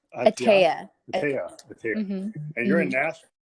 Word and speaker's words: Ataia: Ataia? Ataia.